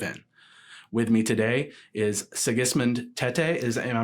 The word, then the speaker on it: Sigismund Tetteh: With me today is Sigismund Tetteh. Am I pronouncing that correctly?